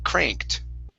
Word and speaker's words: cranked: Instead of cranked, it's an a sound. Cr. Cranked. Cranked. Cranked.